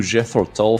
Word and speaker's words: Jethro Tull: Não vou dizer que eu não aproveitei, não, porque o showzinho do meu querido Jethro Tull foi muito maneiro. Fiquei chocado. Repete. Como é que é a pronúncia?